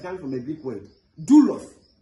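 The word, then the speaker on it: δοῦλος: Of course, self is coming from a big word dulos. You see it is spelled d o u l o. But if if I pronounce d o o, you understand? L O S.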